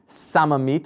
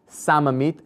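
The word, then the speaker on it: שממית: i'm going to say samamit which is a shin but just pronounced with a sin so you have samamit shin is the first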